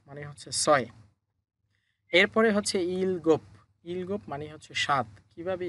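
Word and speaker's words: 일곱: এরপরে হচ্ছে ইলগোপ, ইলগোপ মানে হচ্ছে সাত। কিভাবে ইলগোপ হলো?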